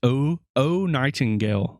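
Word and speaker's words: Oh Nightingale: That's O Nightingale, like the bird Nightingale. It's OH, Nightingale.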